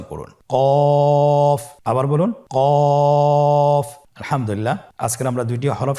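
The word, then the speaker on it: كاف: নম্বর হরফটির নাম হলো কাফ তৃতীয় নম্বর হরফটির নাম কাফ কাফ উচ্চারণের ক্ষেত্রে অবশ্যই পাতলা করে উচ্চারণ করতে হবে এবং তিন আলিফ টেনে পড়তে হবে।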